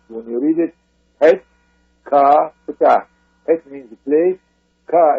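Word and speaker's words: Het-ka-Ptah: And that's pronounced, when you read it, Het Ka Ptah.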